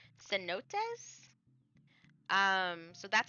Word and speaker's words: cenote: I am pretty sure this is not um pronounced with a hard C. I'm pretty sure it's cenotes.